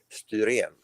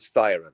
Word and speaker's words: Styren: And it's not pronounced the way you do in America. It's pronounced STYREN.